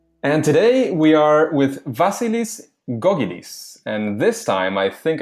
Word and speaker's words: Vasilis Gkogkidis: engaging learning materials and today we are with vasilis gogis and this time I think I did say